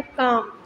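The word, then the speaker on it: calm: First यहाँ पे एक वर्ड है काम. यहाँ पे ऐसे वर्ड्स राइट करने हैं जिनमें एल साइलेंट हो, जैसे कि काम में है आर्म्स, शुड, पाम, सामन.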